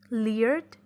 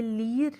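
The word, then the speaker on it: leer: लियर्ड, लियर्ड. ये लीर नहीं है, लियर है.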